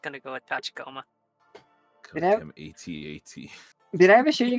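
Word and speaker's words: AT-AT: that but actually the it's supposed to be at at yeah I've heard everybody pronounces it at at right yeah it's at at it's an ad this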